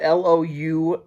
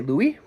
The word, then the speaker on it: Louise: it the wrong way it's spelled l-o-u-i-s-e so I'm gonna say Louie Louie Andrews lay in bed dreaming that her husband maybe it's Louise Louise Andrews lay in